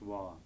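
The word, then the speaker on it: བ: This is the letter ba, which when it occurs as the last syllable of a word is pronounced wah. And then with a narrow on it, it's pronounced wo.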